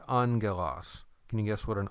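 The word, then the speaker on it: ἄγγελος: When you have these two gammas right there together, it's not GG, but it's pronounced NG. So that's why you heard me say angelos.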